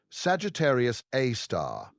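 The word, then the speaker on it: Sagittarius A*: A super massive black hole called Sagittarius A. Pronounced Sagittarius A star.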